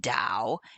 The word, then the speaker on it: Tao: it easier taoism uh the dao is just tao as in down and the master associated